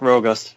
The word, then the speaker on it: Rogust: I'm saying Rogust. Is that it? Yes, that's correct. Rogust.